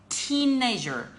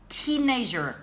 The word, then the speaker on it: teenager: the work must be pronounced with a long e so remember you guys have to say teenager teenager okay please it's the